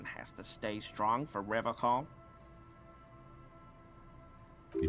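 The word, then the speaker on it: Revachol: to stay strong for river call he pronounces rivercon with a hard k unlike other people serious question time this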